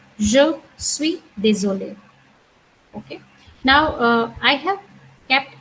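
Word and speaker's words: désolée: However, in both the scenario, the sound will remain the same. So if I say désolé or if with extra e is also désolé. And the next is je suis désolé, je suis désolé.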